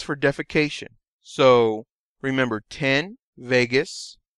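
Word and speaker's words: vagus: to deal with digestion Vegas rhymes with anus and you use this for defecation so remember 10 Vegas rhymes with anus this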